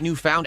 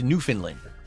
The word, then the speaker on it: Newfoundland: It's a new fund, not new found. Actually, it's New Finland. They h what? Huh?